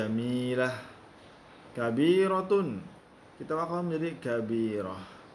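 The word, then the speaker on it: جميلة: Jamilatun. Ya. Kemudian kita wakafkan menjadi jamilah.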